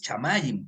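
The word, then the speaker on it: שמים: no se dice cielo, en hebreo se dice cielos, chamayim, plural, im.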